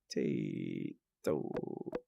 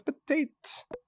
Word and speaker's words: Potate: Potato. Oh wait, it's not potato, it's potate. What?